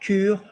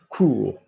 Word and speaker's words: cours: And she said faire le cours, and she's pronounced the OU properly. Not cure, cours.